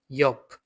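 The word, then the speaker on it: Jot: এটা হচ্ছে ইয়প, ইয়প। এটা কিন্তু জ্যা এর মতো উচ্চারণ হবে না। এটা ইয়টের মতো উচ্চারণ হবে না। এটা ওয়া এর মতো উচ্চারণ হবে। ইয়প।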